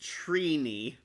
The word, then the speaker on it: Trini: Her name is pronounced Trini.